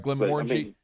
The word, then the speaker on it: Glenmorangie: I always mispronounce it. It's a Scotch. Glenmorangie. Am I saying it right? Yeah. All right, Glenmorangie.